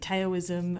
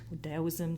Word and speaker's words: Taoism: I had studied Buddhism, I'd studied Ayurvedic medicine, I'd studied Taoism, or Taoism, depending on how you pronounce it.